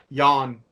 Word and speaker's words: Jan: And it features Alex and Eddie Van Halen's dad, Jan Van Halen, on, or I've heard it pronounced It's Jan. Jan. It's Jan. Jan. Jan. Jan. That's it. That's Jan.